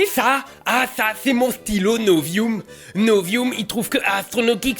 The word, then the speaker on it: Novium: C'est pas le, je t'ai déjà dit que ça se prononce Novium. Oui, mais en latin le U ça se dit ou parce C'est que...